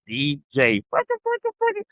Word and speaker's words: DJ: You spell it when you say it. D and a J. So I got to make that clear because everybody is a D E J A Y. No, it's DJ.